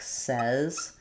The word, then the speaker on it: says: So, for example, in individual words, I'd say it's things like says, where the spelling looks like the word say, but the sounds are actually the um like in red like says.